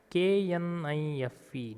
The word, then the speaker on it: knife: KNIFE, knife. See here, K letter is silent.